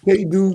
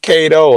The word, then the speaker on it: K-Do: K-Do is a motherfucker, man. I thought it was Kato. I hear you say K-Do all the time.